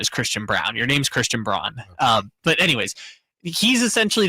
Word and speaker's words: Christian Braun: No, it's it's weird because now Christian Brown I don't know why I call him Brown. Christian Brawn is cuz that's how he said to pronounce his name.